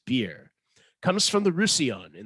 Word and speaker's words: Byrrh: lovely low alcohol cocktail beer yes pronounced beer comes from the russian